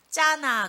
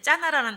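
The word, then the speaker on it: זנה: 근데 이게 히브리 원어에는 짜나 그래요. 이 첩이 행음했다 하는 것이 짜나 이렇게 발음하는 단어인데, 이게 이제 두 가지 해석이 있습니다.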